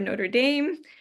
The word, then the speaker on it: Notre Dame: Yamil Colon, who is an assistant professor of chemical engineering at the University of Notre Dame, or Notre Dame, depending on if you want to pronounce it in the French way.